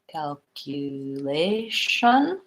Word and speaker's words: calculation: cue syllable calculation so even though I sell it with a CNA you I have a yeah sound in there so I would think about that as calc you calculation and I want to